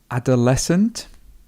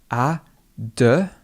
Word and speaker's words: adolescent: So, adolescent, so we've got the a sound, adolescent, adolescent, and the stress would be here.